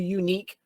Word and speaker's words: Uneek: And then for the DJ stuff, if you just look up DJ 2 Unique, but it's spelled UNEEK. So DJ, the number 2, and then Unique with the spelling I just did, if you want to follow the DJ stuff.